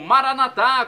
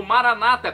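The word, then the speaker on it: Maranatha: E agora, do aramaico, eu clamo Maranatá, como dizemos nós católicos, ou Maranata, como dizem nossos irmãos separados, os evangélicos ou protestantes. Não importa a pronúncia, o significado é o mesmo.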